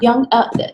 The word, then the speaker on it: Jung: launchers you Carl Jung Jung it's not a J ok Jung yes and it